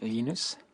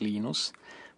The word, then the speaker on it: Linus: when I speak Swedish it's Venus when I when I finish it's Linus when I speak English it's Linus and I really don't care how people pronounce my name at the time Torvalds